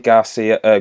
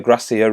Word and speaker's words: Gracia: We brought in Jordi Garcia, Gracia rather. I kept calling him Garcia and it was one of the streamers, Dynamite, who said I'm pronouncing him wrong.